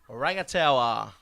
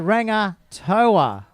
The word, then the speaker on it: Rangataua: So we're just getting pronunciation lessons on the run here. Rangataua. Tower. A little bit of a tower. A little bit of... You put the tower into it. Just think of tall people, Pete.